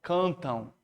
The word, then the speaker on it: cantam: Tá vendo como esse M no final não tem som de M, tem som de O? Cantam. Então isso aqui, ó, na verdade é um ditongo.